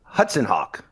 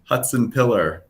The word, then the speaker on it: Hutsenpiller: what's the correct pronunciation? Hutsenpiller. Hutsenpiller.